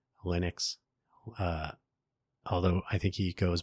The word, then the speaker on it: Linux: change his name to, I believe his normal pronunciation was Linus. So he pronounced his kernel Linux. But then when he moved to America, he preferred Linux, although I think he goes by Linus Torvalds instead of Linus.